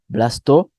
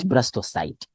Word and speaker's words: blastocyst: Yes, we call it blastula or blastocyst. Sometimes people don't know, don't give two answers, just pick one. Yeah, blastocyst or blastocyst. So that's how we pronounce, not blastocyte.